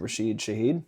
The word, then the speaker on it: Rashid Shaheed: That game ended before it even started with Rashid, how do you pronounce his name? Rashid Shaheed? Yep. Kickoff return touchdown. And we'll get into him later. But Yes, Rashid Shaheed is one of the most electric players on that team.